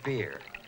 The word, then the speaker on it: Byrrh: is a Greek French it's the light continental drink pronounced beer oh so when you